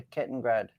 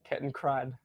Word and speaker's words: Kettenkrad: I can tell you the Kettengrad. Did I say it right? Kettenkrad. Kettenkrad. Kettenkrad.